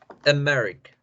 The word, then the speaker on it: America: No hacemos la A fuerte. Es como un pequeño eructo ahí, esa E. America, America, America. America. Más o menos, más suavecito la A. America. Sí, mam. America. Bien, más o menos, bien. Fíjense, ahí la A suena como una E. Y suena suavecito, suena a la schwa.